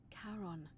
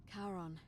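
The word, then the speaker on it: Charon: heard wasn't karen it was c-h-a-r-o-n as in caron the ferryman of the dead karon who in exchange for the right coin helps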